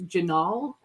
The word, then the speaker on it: Jinaal: so many times that I wrote it down phonetically so I would remember that his name is janal I I'm gonna just start with the most